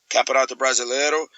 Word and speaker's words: Campeonato Brasileiro: So that for me, winning the Brasileiro in the Brasileiro is how you say the Brazilian Championship in Portuguese, Campeonato Brasileiro.